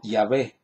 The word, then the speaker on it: Yahvé: Porque el nombre de Jehová es una falsa pronunciación del nombre de Dios. Así lo dicen los diccionarios bíblicos. Jehová es una falsa pronunciación del nombre de Dios. No se debe pronunciar así, es incorrecto.